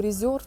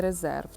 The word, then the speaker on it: Reserved: І хто заперечує, чому reserved? Ну, тому що так читається на англійській, так вимовляється не резерв.